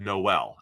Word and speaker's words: Noel: um the lat I'm back and forth between nol and Noel we've heard both I heard danne Brugler said Noel and I like to defer to what danne says I think danne is the pronunciation Authority when it comes to the NFL draft so I'll go with that Iowa State's Jaylen Noel